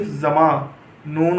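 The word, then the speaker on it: زمانہ: तो अब इसकी हिज्जे करेंगे आप, जे मीम अलिफ ज़मा, नून और छोटी है ना, ज़मा ना। तो इस तरह से आप पढ़ेंगे ज़मा ना।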